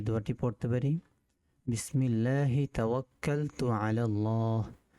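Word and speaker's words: تَوَكَّلْتُ: তো বাংলা উচ্চারণটা হচ্ছে বিসমিল্লাহি, একালিফ টান হবে, তাওয়াক্কালতু, বিসমিল্লাহি তাওয়াক্কালতু।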